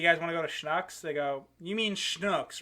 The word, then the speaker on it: Schnucks: They have a grocery store called Schnucks because it's a family name, but it's spelled like shucks with an N in it. So when I first got out there, I was like, oh, cool, Schnucks.